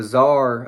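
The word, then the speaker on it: czar: is related to the the Zar I believe is how you pronounce it to of Russia and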